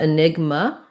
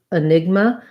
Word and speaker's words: enigma: so maybe you meant enigma um yeah i think maybe you just accidentally left off your a so in a negma um we have second syllable stress so we have the enigma we're going to have